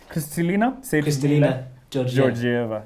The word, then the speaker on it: Kristalina Georgieva: We Africans can pronounce. Kristalina Georgieva.